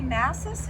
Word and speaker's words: Mases: And I'm visiting Bernie Massis, is that correct? Yes. That's how you pronounce it?